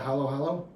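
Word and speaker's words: halo-halo: Halo. Halo.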